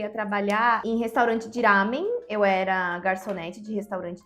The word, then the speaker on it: ramen: E é o lamen que a gente fala aqui. No vocabulário japonês não tem um L. Ah, entendi. Então, gente, para quem tem dúvida, o japonês não pronuncia o L.